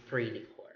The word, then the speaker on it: esprit de corps: is pre, it's because the letter S in the third word, core, is silent. So it's not assigned the sounds. It's pre de core.